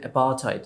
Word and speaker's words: apartheid: শব্দটার উচ্চারণ অ্যাপারথাইড।